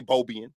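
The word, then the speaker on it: Beaubien: of Detroit so Antoine beaubian we say bobian these are slave owners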